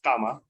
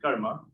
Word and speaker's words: karma: on happening it's then the term karma or pronounced in the west is comma supposed to be karma in avatar which his